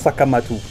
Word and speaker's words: Sekhmet: And Sekhmet could also be pronounced in an African language as Sakamatu.